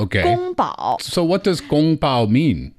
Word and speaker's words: 宫保: And that is why kung pao is not exactly the Chinese word. It's not a word. It's, again, a name, but it's the similar pronunciation of a name. It's not even the name. Oh, so wait, so that wasn't his name? Well, kung pao was not, but gong bao was. Oh, but it just got kind of changed. Yes. And then when it made its way west, then the pronunciation changed even more.